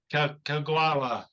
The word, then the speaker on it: Kagawa: Kagawa University in Japan.